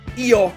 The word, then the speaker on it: Eeyore: But maybe the weirdest for a French viewer; is the English name of "Bourriquet" : "Eeyore" with a silent "r".